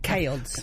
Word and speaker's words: CAODS: CAODS. CAODS.